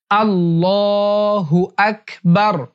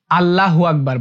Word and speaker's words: আল্লাহু আকবার: অনেকেই আল্লাহু আকবার বলে। এটা ভুল উচ্চারণ।